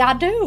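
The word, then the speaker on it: Ado: And I made me and a man called Billy with the last name A-D-O. Because phonetically, that's Billy I do.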